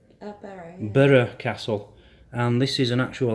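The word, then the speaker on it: Burgh Castle: We went there the other week, Berg Castle, and I was saying it wrong. It's pronounced Burra. Burra Castle.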